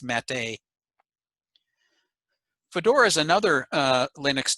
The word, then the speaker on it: MATE: accent on the end for years i thought it was mate but then i was corrected it's mate fedora is another uh